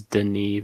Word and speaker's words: Denis: But yeah, and it's directed by his name is Denis Villeneuve. It looks like Dennis, but he's French, so I want to be respectful to how to pronounce it.